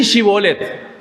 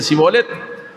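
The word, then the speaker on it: shibboleth: y le dicen decí shibolet y lo de la otra tribu decían zolet sonaban no podía decir shibolet decía cibet y con esta palabra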